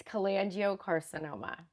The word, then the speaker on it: cholangiocarcinoma: Can you can you I couldn't pronounce it for about 3 weeks probably after I was diagnosed. Um, it's collangio carcinoma.